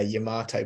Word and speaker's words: Yamato: So in the UK, tomatoes are obviously called tomatoes. So Yamato and tomato, they rhyme with each other. Mhm. Um, So I was like very aware that it wasn't going to rhyme to the Americans.